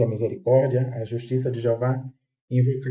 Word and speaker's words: Jeová: pra gente perceber que a pronúncia aí é Jehová em hebraico, Jeová em português, tá tudo certo, tem